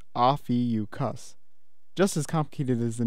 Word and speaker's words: Ophiuchus: man grabbing a serpent and it's pronounced off eu cuss just as complicated as